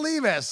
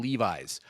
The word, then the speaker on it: Levis: Do you believe us and Will Levis?